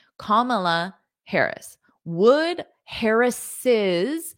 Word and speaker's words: Harris's: comma Harris would Harris harrises so you need to add that extra syllable harrises to show this possessive Harris's price gouging